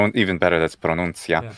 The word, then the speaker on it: pronuncia: That's pronuncia.